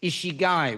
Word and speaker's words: ikigai: is covered in my book, is the Japanese ikigai, which is spelled Ikigai, ikigai.